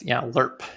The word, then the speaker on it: LIRP: And that's, LIRP is the preferred pronunciation of that.